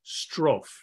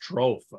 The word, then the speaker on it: strophe: It's called a strophe. Okay, S-T-R-O-P-H-E. I think that's the way you pronounce it.